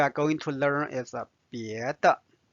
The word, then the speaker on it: 别的: The next word we are going to learn is 别的。别的 means other. And there is no tone symbol here, so it's neutral tone.